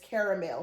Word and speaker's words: caramel: If you say caramel, C-A-R-M-E-L. Let me know if you guys said caramel or caramel. I'm trying to change my wording and say caramel because that is really how you say it.